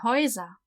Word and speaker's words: Häuser: Das Haus, die Häuser. So, and U is always pronounced oi.